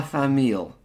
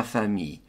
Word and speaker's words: famille: No L's. So it's not la famille. That is wrong. La famille. So, city, la ville, pronounce the L's. Famille, family, skip the L's.